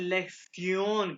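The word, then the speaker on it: Lektion: में प्रोनाउंस करते हैं लेक्सन कह के। टी आई ओ एन की आवाज़ आती है सयन।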